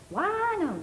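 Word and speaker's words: Wynonna: in here yeah now Naomi and wona right actually it's wona wona sorry and it's Naomi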